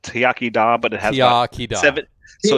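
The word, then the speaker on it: Iechyd da: this is a great product so it's it's pronounced yakida but it has seven so it's got 22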